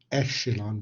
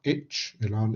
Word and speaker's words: echelon: this word is pronounced eshilan because it comes from the french language it's not itch iran is echelon the first